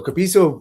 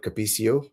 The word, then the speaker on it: Capisso: So I pronounce it exactly like you did, Capisso. Thank you. But there are a good few variations. Some people even call it Capicio.